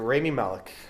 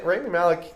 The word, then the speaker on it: Rami Malek: Malek You're Rami Malek.